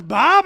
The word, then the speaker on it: Bob: do you pronounce it it's very simple bob b.o.b bobbing for apple but some people do